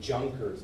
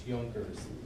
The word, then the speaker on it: Junkers: If you were to pronounce it in English, you would say Junkers, but it's German, so it's Junkers.